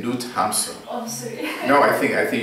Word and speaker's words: Hamsun: Knut Gamsun. This is Norwegian Nobel Prize. We say Knut Hamsun.